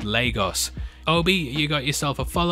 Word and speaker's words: Lagos: in the city, that it's pronounced Lagos.